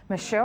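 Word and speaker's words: Meshoe: south africa mr kenneth michelle i hope i'm pronouncing your name right yes you did well thank you lovely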